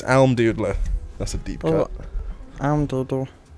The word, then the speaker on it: Almdudler: It's Almdudler.